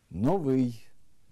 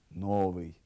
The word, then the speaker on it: новий: випадок неправильний наголос випадок новий неправильний наголос новий фаховий неправильний наголос фаховий